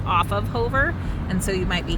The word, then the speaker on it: Hover: hover this is um some people say hoover but it's actually pronounced hover here for the locals